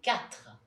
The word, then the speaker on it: quatre: The second sound is a bit tricky for English people to pronounce. It's the sound r, like in quatre.